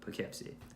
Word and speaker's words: Poughkeepsie: York probably don't know how to say but Poughkeepsie anyway that will do it for this episode